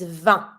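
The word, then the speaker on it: vingt: and 20 is Van careful van so the same I in as sound van and here the G and the t is mute so you don't say van or van just van you stop at the sound van and then easy you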